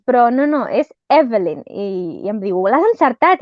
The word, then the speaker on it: Evelyn: Evelyn Waugh va formar part de la Breed Young People, aristòcrates esbojarrats.